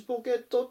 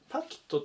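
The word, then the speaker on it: pocket: ますねあとはポケットではなくてパキットっていう風に発音聞こえるので注意してくださいでは次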